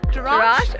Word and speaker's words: Jerash: I said trash. No. Jerash.